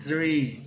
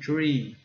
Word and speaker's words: tree: O número 3 é three, a árvore é tree, tree, tree, tree.